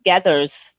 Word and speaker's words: Gathers: I said it wrong. It's Gathers.